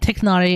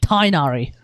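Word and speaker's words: Tighnari: Dude, it's the same way they turned Tiknari into Tainari.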